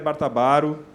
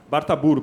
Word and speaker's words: Bartaburu: E eu queria chamar também o jornalista também e maestro Bartabaro. seja bem-vindo. Bartaburo, perdão, eu errei a pronúncia do nome. Bartaburo.